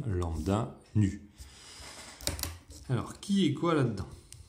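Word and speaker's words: ν: grecque, voilà, ici, et qui s'appelle nu. Ouais, NU, comme si on était tout nu.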